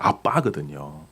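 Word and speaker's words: abba: 아라모 그든 아람어 아바 근데 a BB예요 그 원래 발음이 이제 이제 비가 두 개가 붙어 있으니까 된 소리가 나잖아요 아빠거든요 예 그래서 여러분 그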